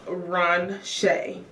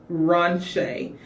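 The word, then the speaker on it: Ronsha: So my middle name is Ron Shay. So it is spelled R O N S H A. Ron Shay.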